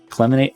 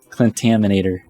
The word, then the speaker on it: Clentaminator: I called it a. What did I call it? Cleminate. What? This is what it is. It's a clentaminator. Okay, so it's a clentaminator. I was saying it wrong. It's forgetting a whole syllable or two.